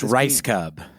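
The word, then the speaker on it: Rajskub: me on the pronunciation of this It's pronounced Ricecub.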